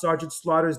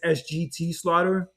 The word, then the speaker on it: Sergeant Slaughter: Because I heard like a few weeks ago Tiffany Stratton like pronounced Sergeant Slaughter's name as SGT Slaughter.